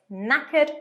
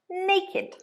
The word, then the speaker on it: knackered: looking after the children be careful of the pronunciation it's knackered not naked a phrasal verb that